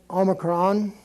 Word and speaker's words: Omicron: Z then you have Omicron which is just an o sound and an equivalent to an English o which is a short vowel Omicron is the name of it and it's just like the O and an omelet I'm omelette be that